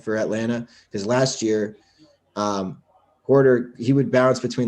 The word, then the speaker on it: Huerter: Huerter? How do you say that guy's name for Atlanta? Porter, I think.